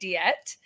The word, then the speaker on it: Deette: um but there's a there's a proper French pronunciation and then there's the pronunciation that my family's been saying since I was born uh and we're very American so um I don't think we're saying it right but I go by diet um proper French pronunciation